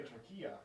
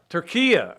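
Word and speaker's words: Türkiye: Now, I think it's still pronounced Turkey, but it's not spelled Turkey anymore. I don't know if you were aware of this, Zach. I think they say Turquia. Turquia, yes.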